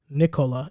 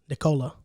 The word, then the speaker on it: Nikola: it's yoke anyway and his name is not um nicola it's nicola it's like nica it's nicola that's how it sounds that's the same that's